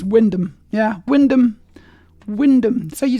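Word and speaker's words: Wymondham: really quick right it's Windom yeah Windom Windom so you just completely ignore all the bit between the W and the N it's just doesn't matter it's Windom thank you Maya that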